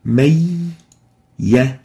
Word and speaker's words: مَنْ يَقُول: If we take the idgham, it will sounds like may ya, may ya. So there is a ya with shadda, and the noon has disappeared.